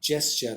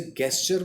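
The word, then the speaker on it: gesture: जी के बाद बहुत सारे वर्ड्स में अगर आई और वाई आए तो उसको जर्ब प्रोनाउंस करते हैं, जे जैसा साउंड आता है। इसे गेस्चर बोल देते हैं काफ़ी लोग, जो कि गलत होता है।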